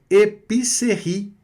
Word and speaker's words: épicerie: A épicerie, inclusive, termina com a vogal E, que não vai ser pronunciada no final da palavra. Vogal E não é pronunciada no final da palavra, ela fica meio que muda, fantasma ali. mas ela sempre vai puxar, não é, a letra anterior, que aqui no caso é a vogal I.